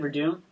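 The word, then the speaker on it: Werdum: That's how you say it, Verdun.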